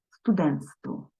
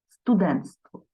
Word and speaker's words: студентство: студентки Але у вимові оцей ти перший буде випадати студентство студентство так зручно вимовляти і так правильно далі ще один приклад брат